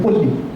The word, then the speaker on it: Palli: And interestingly, Bengali also has the same word Palli, exactly in the same form, Palli, and in Bong, we pronounce it in a different way. When we call it Polli, right? In Bongs have always O, right?